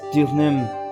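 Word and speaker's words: Deauxnim: I'm convinced that Miss Elise Dioxnim... It just occurred to me that the way to pronounce her name is Dioxnim.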